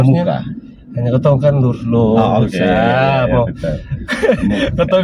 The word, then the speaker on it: Muca: Muca atau Muka sebenarnya? Tulisannya Muca, bacanya Muka.